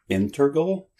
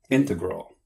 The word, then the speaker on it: integral: Integral? Integral? Integral.